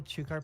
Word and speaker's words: chukar: I am helplessly in love with round, adorable chukar partridges. I don't know how to pronounce this word.